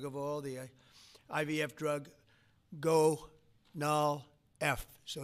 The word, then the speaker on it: Gonal-f: most popular drug of all, the IVF drug, Gonal-F. So it's Gonal-F. Is that a proper pronunciation? Very Close well enough, done. right? Very well done. Gonal-F.